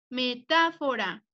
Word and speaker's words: metáfora: Lleva acento en la sílaba ta, metáfora.